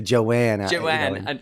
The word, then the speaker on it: Joan: Yes, it's like it's spelled like Joan in the paper, but they say Joanne.